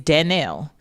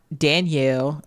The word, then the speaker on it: Dannelle: Well, my name is spelled Dannelle. It is Dannelle. It's not Dannelle. It's not Danielle.